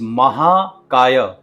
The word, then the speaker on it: महाकाय: Next word is महाकाय जिसमें ए का साउंड लॉन्ग है। महाकाय जब आप इसको स्ट्रेच करते हैं तो इसकी वाइबेशंस जो हैं वो बढ़ती है।